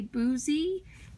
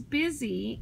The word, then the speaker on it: busy: Busy is our oddball because it should say boozy, because it should have a long U, but it says busy with only one consonant, so that makes an oddball.